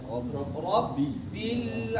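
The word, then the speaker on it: ربّ: Rabbil alamin. Rabbil Ra-nya tebal, ba-nya tipis.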